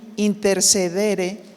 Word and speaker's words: interceder: palabra intercesión de latín intercedere Perdón del latín interceder porque tiene acento en la última e y significa la acción